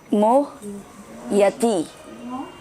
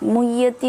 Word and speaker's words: मुह्यति: प्रानो मोहिति मोह यति, यति, ये आप प्रैक्टिस करेंगे। कुंजलता का भी वही प्रॉब्लम हो रहा है, मुह्यति नहीं, मोह यति, मोह यति।